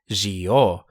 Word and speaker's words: Zi-O: That's how his katakana reads, Gio, and as we'll hear later, it's pronounced that way too. If it was pronounced with a Z, then we'd have this katakana and not G.